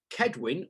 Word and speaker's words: Kedwin: So we've got Kedwin with a K for all of those who are wondering how we're supposed to pronounce it.